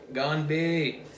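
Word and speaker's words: 干杯: Gone. Like when someone goes, they're gone. Gone. Gonbei.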